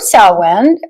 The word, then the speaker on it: Samhain: Anyways, so the word sin, which is pronounced like sa, like a sa s o wen sin, female pig.